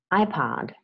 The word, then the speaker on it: iPod: Okay, an iPod is an object, and the stress is on the first syllable, iPod.